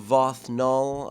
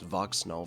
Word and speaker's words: Vox Null: modded next moving into vothnal I have been mispronouncing his name because I had it written in my notes Vox snow for the longest time of course as a